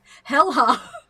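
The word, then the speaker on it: Häyhä: Featured on Sabaton's 5th studio album, Coat of Arms, the song White Death is about Finnish sniper Simo Hea, pronounced Helha, who served in the Finnish army from 1939 to 1940 during the Winter War between Finland and the Soviet Union.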